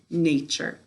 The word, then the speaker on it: nature: tricky is nature what's the word class good nature all right i love to go out and